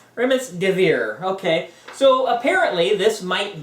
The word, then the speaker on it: Remdesivir: Can you pronounce that? What is that? I can't even say it. Remdesivir. Remdesivir, okay.